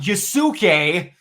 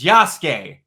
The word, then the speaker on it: Yasuke: And by the way, people, U's don't get pronounced in Japan. I love learning how many people don't know how to say names in Japanese. Because it's not Yasuke, it's Yasuke.